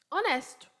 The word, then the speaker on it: honest: diferente é ruim né honest honesto honest o h é mudo honest honesto ou honesta